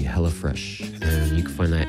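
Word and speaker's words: Hella Fraiche: the hell of fresh hellish fresh is spelled as the French the French spelling right yeah h e l l a from Northern California and uh fresh is spelled f r a i c h e hella fresh and you can find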